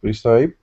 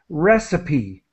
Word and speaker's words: recipe: But in this case, it's pronounced, well, sort of like a Y.